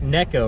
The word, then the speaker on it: Neko: little bit about a NECA rig and actually it is pronounced the neck neck Oh rig I learned from watching